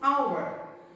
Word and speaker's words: hour: The pronunciation is hour. Look at the word very carefully, my dear students. Word is the word hour. The word started with the letter H, which is a consonant, because we can't find it here.